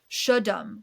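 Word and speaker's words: Cholame: In 1955, iconic American film star James Dean died east of Paso in the turnoff for Rancho Colomane, a Salentine Native American word pronounced Shudum, where Cal Poly student Donald Turnops made a left turn into his Porsche Spider with a Ford Tudor.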